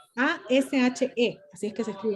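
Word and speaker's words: Ashe: que estuvo presa con Callejas, por ejemplo, el presidente de la Asamblea General de Naciones Unidas, el presidente Ash, A-S-H-S-E-S, no, A-S-H-S, Ash, bueno, el presidente Ash, que fue el primer presidente de la Asamblea General de ser africano.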